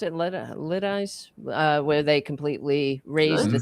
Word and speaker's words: Lidice: How do you pronounce it? Lidice, where they completely razed the town.